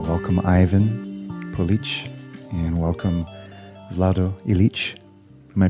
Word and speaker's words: Vlado Ilic: for him i welcome ivan police and welcome vlado elite am i pronouncing your names close to you yes yeah